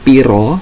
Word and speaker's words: pira: Basa Jawane piro. Nah, tulisannya pira tapi cara membacanya piro, piro.